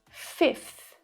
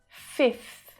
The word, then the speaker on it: fifth: 84th, 54th, fifth, fifth. It's a little harder. We've got the unvoiced f and the unvoiced f. Both of those sounds are made with air blowing out, but